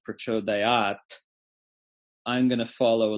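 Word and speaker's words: pracodayāt: In my philosophy, I don't engage in artificial revivalism, meaning to say, just because I know that it was originally pronounced Prachodayat, I'm going to follow a living tradition, right?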